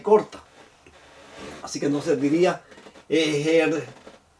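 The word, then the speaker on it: ἐγήγερται: que está por aquí, la eta, no se pronuncia como I, sino como E. Una E larga, a diferencia de la épsilon, que es una E corta. Así que entonces diría ejertai. Ejertai es un verbo perfecto.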